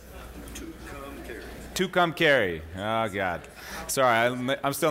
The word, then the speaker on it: Tucumcari: Tucumcari. Did I say it right? Tucumcari.